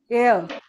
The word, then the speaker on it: heir: In this word H H is silent, okay? So we say air.